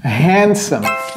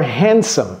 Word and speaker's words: handsome: deviné c'est you are handsome prononcez pas le D ne dites pas handsome ok ce n'est pas handsome you are handsome pour les hommes maisant